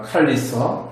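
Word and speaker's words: portcullis: 예, 그럼 발음은 포트 칼러스입니다. 칼리스. 예, 칼리스라고 발음하는데 자세히 보면 CULL이라 했으니까 걸러서죠.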